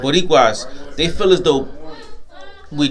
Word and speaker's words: Boricuas: Boricuas, they feel as though we're different, right?